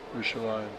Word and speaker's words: Yerushalayim: How do you say Jerusalem in Hebrew? Yerushalayim.